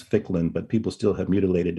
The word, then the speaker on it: Ficklin: liz i'm going to my last name um is only two syllables and it's ficklin but people still have